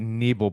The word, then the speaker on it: Neville: Uh we pronounce it Neble, but there is a guy named Long John Neville who was on Yeah.